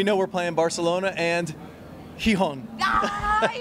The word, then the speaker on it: Gijón: And we know we're playing Barcelona and Gijón. Ah, you said it right. This is good. This is good. Gijón, perfect.